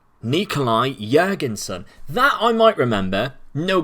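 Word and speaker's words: Jørgensen: suppose but you're concerned the o is pronounced like a u in burger so again go refer back to the burger so it's actually jurgensen nikolai jergensen that i might remember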